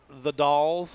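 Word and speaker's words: The Dalles: always a joy anyway we are here in the dolls I believe it's pronounced and it's in Washington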